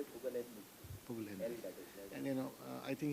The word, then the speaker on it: Pugalindi: Pugalindi.